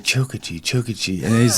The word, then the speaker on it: Chokachi: Chokachi. Yeah. David Chokachi. Chokachi. It's like a train, like Chokachi.